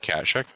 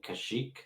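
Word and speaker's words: Kashyyyk: might want to be cautious of okay what cash check you mean kashyyk it's also been pronounced he also has three wives in it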